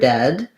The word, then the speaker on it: dead: So the letters EA in many words like read will say the E sound. In the word dead, they say the eh sound.